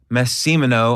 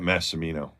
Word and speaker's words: Massimino: We've got Mike Massimino on the podcast. Did I say it right? Nah, you screwed that up, man. How do you say it? Massimino.